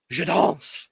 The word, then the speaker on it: Je danse: Je danse. Je danse. Je danse. Je danse. Je danse. Je danse. Is it Z or S? It's an S.